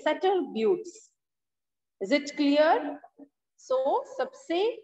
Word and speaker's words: Sutter Buttes: The pronunciation is Sutter Buttes.